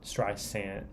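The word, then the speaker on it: Streisand: Were by barar Strand St sand St sand I was corrected when I did the video like many many other people I Z pronounced a z and it's not a z it's an S um this is number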